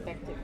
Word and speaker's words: Bektic: Yeah, he said it wrong. It's Bektic. Bektic. He told me.